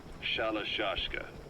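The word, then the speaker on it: Shalashaska: The guerrillas were using the name amongst themselves. By the time I got to hearing about it, pronunciation had wound up as Shalashashka.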